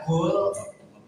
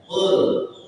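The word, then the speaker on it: قُلْ: Kalau dipakai, kalau dibaca kul beda nanti kalau dibaca kul itu dibacanya kayak kalau diartikan ya qul.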